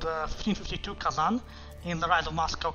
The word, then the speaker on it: Kazan: So it's not Kazan, it's Kazan. Almost like there's a N, like a G, silent G and H there that makes it, well, not a G and H, but like, that's how it is. So, it's supposed to be Kazan, not Kazan.